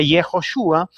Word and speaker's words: Yehoshua: nombre de Josué, ¿no?, que se pronuncia Yehoshua, quiere decir Jehová salva.